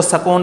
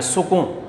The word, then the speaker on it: سکون: اگلا لفظ ہے سکون، ہم اس کو سکون پڑھتے ہیں، سین پر عموماً زبر کا تلفظ نکالتے ہیں، تو یہ غلط ہے۔ آپ اس کو سین کے اوپر پیش ڈالیں گے، کاف کے اوپر پیش ڈالیں گے، نون کے اوپر جزم ڈالیں گے، سکون۔ اور عرفان، عین کے